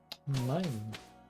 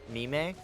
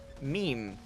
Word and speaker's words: Mime: the name would be Mime. But in the first game, they pronounced it meme. even though it's spelled like mime, which is how they say it in the second game.